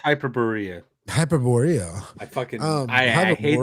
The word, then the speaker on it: Hyperborea: I'm sorry, it's pronounced Hyperborea.